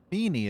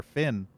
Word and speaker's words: Feeny: Feeny is how you pronounce her name. I called her Finn.